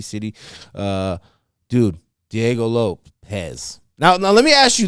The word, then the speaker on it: Lopes: I'm gonna call him Diego Lopes, but it's Lopez, right? Yeah, but he's just the Brazilian version, and that's why it's spelled that way, right?